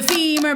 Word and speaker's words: femur: goes like this the femur bone it rhymes with lemur the tibia it rhymes